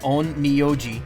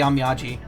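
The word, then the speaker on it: Onmyōji: Japanese only has one way to pronounce it true. Onmyoji as in heart. Onmyoji. Yeah, that's what I said, right? Or did I say Onmyaji?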